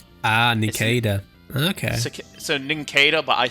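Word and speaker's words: Nincada: It's Ninkada. It is a cicada. Ah, Ninkada.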